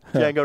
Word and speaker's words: Django: p's nice there yeah Jango right because most people would think that's a j but it's actually DJ a n g ojango Django was his Amo